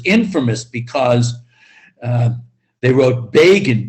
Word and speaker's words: Begin: because uh they wrote begin b-e-g-i-n rhymes with fagin and fagin of course